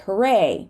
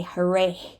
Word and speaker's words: hooray: the name Thomas Tom sometimes we do not say the H at the end of a word like hooray right hooray we do not say hurray okay so this is